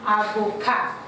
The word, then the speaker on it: avocat: You can see that the T is not pronounced because it is silent. So we pronounce it as avocat.